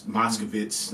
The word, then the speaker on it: Moskowitz: it coined it for Todd Moskowitz if that's how you say it's Moskovitz that's how you say